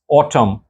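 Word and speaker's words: autumn: ऑटम, N silent है, एन की sound नहीं है। ऑटम।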